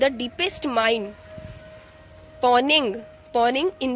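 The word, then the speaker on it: Mponeng: Okay, और ये south Africa में किया गया है और उस माइन का नाम है पोनिंग, इसे एम साइलेंट है, पोनिंग।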